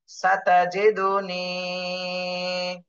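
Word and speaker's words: سَتَجِدُنِي: ছাতা জিদুনি, ছাতা জিদুনি, সাতাজিদুনি। এতটুকু সবাই বানান করে উচ্চারণ করেন তো।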